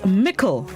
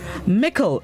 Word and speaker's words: mickle: day this morning's word of the day is mickel mickel it's spelled m-i-c-k-l-e mickel it's an additive which means